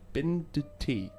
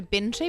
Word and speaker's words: Binti: Am I speaking to Binduti? Is that right? You are speaking to Binti, but just don't forget that this D is silent. That's right. It's Binti silent D.